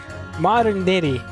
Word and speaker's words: modernity: Hey Siri, how do I pronounce modern modern modernity? Stupid Oh, here's right here. What? Modernity. Modernity. Modernity. Modernity. Modernity. Modernity. Like eternity, but modernity.